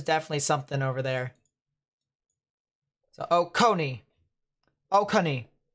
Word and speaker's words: Oconee: something to watch out emphasis on the middle symbol co yep got it so oconee oconee oh connie ah ready gamer i